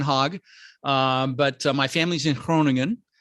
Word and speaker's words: Groningen: But my family's in Groningen. The G is like, yeah, it's hard to pronounce, Groningen.